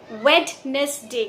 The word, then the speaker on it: Wednesday: दोस्तों, अगर आप इस वर्ड का करेक्ट प्रोनाउंसिएशन करना चाहते हैं तो मैं एक हिंट दूंगी। आप इस वर्ड में से डी की साउंड को हटा दीजिए। ड इस वर्ड में साइलेंट है।